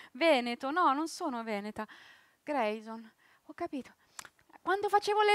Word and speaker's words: Greison: Grayson, si scrive esattamente come si legge, Grayson.